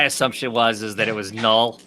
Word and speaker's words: Knull: Someone named Null, or spelled with a K.